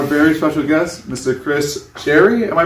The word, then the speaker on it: Chari: please welcome our very special guest mr chris sherry am i pronouncing that your last name right charlie absolutely